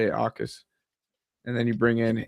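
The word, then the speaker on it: Jacas: Akis, yeah. Yeah, somehow Ty, it's Akis. There's no the Akis. J is silent, like it's Spanish.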